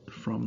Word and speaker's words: Fromm: So you had these people, and Erich Fromm spelled with two M's, like from, like how we would say to and from. It's from, but with a second M, and he was a